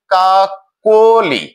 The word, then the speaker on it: কাকলি: আমরা 1 নম্বর নিয়মে দেখছি, মধ্য ক ধ্বনিটির সাথে অকার রয়েছে এবং এর পরে ইকার রয়েছে, অর্থাৎ মধ্য অ এর পরে ইকার অথবা উকার থাকলে অটির উচ্চারণ ও এর মতো হয়ে যায়, যার ফলে কাকলি শব্দটির উচ্চারণ হয়ে গেছে কাকলি। কাকলি অটি ও রূপে উচ্চারিত হয়েছে।